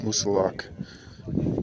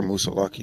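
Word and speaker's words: Moosilauke: Made it to the summit of the first white mountain, Mount Musalak, or Musalaki, depending on how you want to pronounce it.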